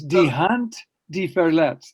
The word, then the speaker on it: Die Hand, die Verletzt: It's Die Hand, die Verletzt. That's how you say it in German.